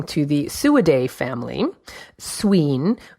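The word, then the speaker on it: swīn: the suid a family sween which is how it would have been pronounced in Old English modern swine meant strong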